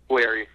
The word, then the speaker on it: Guererri: Is it Guererri or Guererri? Guererri. Guererri. That is the proper pronunciation.